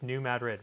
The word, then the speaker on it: New Madrid: People always like, "You're not pronouncing it correct." It's New Madrid, whatever, okay?